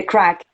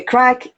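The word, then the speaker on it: craic: it's an expression and it's spelled like the crack the bad one but it's not the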